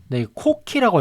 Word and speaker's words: Coqui: 제가 찾은 TTS 모델, 이번에 TTS 모델은 코키 AI에서 만든 코키라고 읽더라고요. 코키.